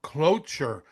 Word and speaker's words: cloture: But so Senate voted yesterday 68-30 to invoke cloture. What Hmm. CLOTUTURE? I don't know what that word is, how to pronounce it.